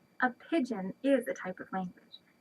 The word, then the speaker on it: pidgin: It's not pigeon like the birds. It's a different word. Here, let me show you. It has the same pronunciation, but a different spelling. A pidgin is a type of language.